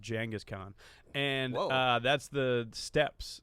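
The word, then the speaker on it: Genghis Khan: even know how long the podcast was about gangas Khan so I'm pretty informed it's actually pronounced jangus Khan and uh that's the steps so they're called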